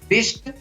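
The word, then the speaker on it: wrist: इसी प्रकार WR से शुरू होता है तो उसमें भी W का उच्चारण नहीं होता है, तो इसको पढ़ेंगे rap, wrong, रिस्ट, wrinkle, ring.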